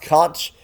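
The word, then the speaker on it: xonsh: is an alternate shell X OSH is conch pronounced conch.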